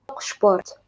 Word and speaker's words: Sport: سبيل المثال باللغة الألمانية كلمة sport باللغة الألمانية تكتب كما تكتب اللغة الإنجليزية لكن تنطق sport بالشين فحرف السين مع P ينطق شين فإذا تفهم القواعد أو